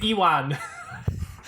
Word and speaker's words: Ewan: I don't say Ewan. I don't say I say onion. I say Ewan.